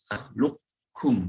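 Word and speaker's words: نخلقكم: Lam nakhluqkum. Qafnya langsung hilang. Yang berpendapat ini qaf ini punya tebal, boleh kalah dengan kaf. Kepalanya hilang boleh, tapi tebalnya nggak boleh hilang. Maka dibacanya nakhluqkum.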